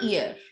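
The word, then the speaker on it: hier: here it's e f h is not given its sound we don't say her we say here okay i'm here means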